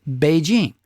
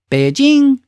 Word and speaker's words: Beijing: you're supposed to say Beijing. Still the same word, but you just say it with two pitches, a low pitch and a high pitch.